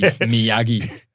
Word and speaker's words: Meogie: Now, the way we spell it is Meogie, which is arse ways. It's actually Miyagi, like Mr. Miyagi.